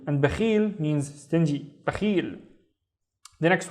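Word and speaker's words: بخيل: Now, let's read the first syllable on its own. It's simply ba, ba. And then the second syllable is, again, we have Khalid surfing. With a kasra, it becomes khi, khi. So, khil, khil. We have the il in here with no vowels. So, ba, khil, bakhil.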